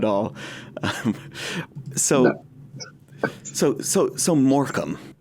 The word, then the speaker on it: Morecambe: so moram moram uh it is an interesting pronunciation for the spelling for for me of just not being familiar with a word that is pronoun spelled that way and pronounced um that way is it's something that